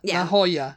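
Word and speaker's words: La Jolla: kri yeah but yeah laia laoya SP the spelling is L A next word j o l l a laa California yeah uh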